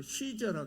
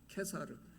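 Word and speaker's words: Caesar: 우리 영어식 발음으로 시저라 그러지만이 원래 발음은 케사르거든요. 케사르.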